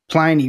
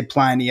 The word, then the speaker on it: Pliny: a tiny Pliny, but Pliny rhymes with piney, which is that big hop-forward flavor that I think a lot of people encountered for the first time in that era.